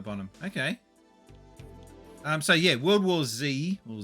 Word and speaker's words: World War Z: okay um so yeah World War Z or Zed we we pronounce that as World War Z because that's what it originally was pronounced as um then you got